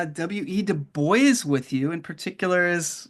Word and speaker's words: Du Bois: Du Bois's name and Du Bois's father was Haitian as well. Technically, people would probably call him Dubois, but his own upbringing and the way that